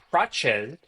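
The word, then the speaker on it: Prates: All right, next up, Carlos Prache, which is the correct pronunciation of his name.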